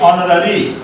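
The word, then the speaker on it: honorary: लेकिन वही कहेंगे ऑनररी, तो ऑनररी कहाँ आ जाएगा, इसमें आ जाएगा क्योंकि एच उसमें साइलेंट हो जाता है।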